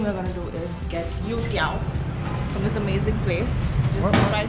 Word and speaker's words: youtiao: And the first thing we're gonna do is get yutiao from this amazing place.